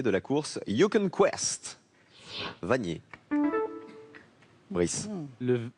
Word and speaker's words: Vanier: Vanier. Brice. Le R. Maxence. Le N. C'est le N. Il s'appelle Pareil. Nicolas Vanier. Et voilà. Et Vanier, ça s'écrit comme ça, avec un seul N.